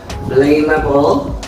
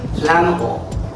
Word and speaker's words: flammable: how about this one did you say flamable or flammable it should not be it should be flammable okay flammable initial flame about it's